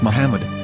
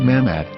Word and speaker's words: Muhammad: after the H according to Ben yehuda's Hebrew English dictionary it is correctly pronounced as Muhammad not mammad so how we're going